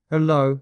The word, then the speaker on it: Hello: Hello. Hell, low stress on second syllable.